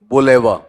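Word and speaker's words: boulevard: बोलेवा ड नहीं बोला जाएगा। अब बोल दो बताओ ड होगा या फिर वहां पर बुलेवा अब स्पेलिंग इसकी बिना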